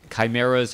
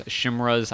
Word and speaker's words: chimera: All right, chimeras, chimras, I know people pronounce them both ways. I don't know why I say chimera, but I say chimera.